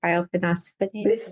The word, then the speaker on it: bisphosphonate: was on one of these I can't even pronounce the word, bisphosphonates.